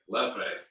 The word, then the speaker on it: Leffe: Lafay. You said it's Leffe? Leffe. Leffe. Exactly how they say it too.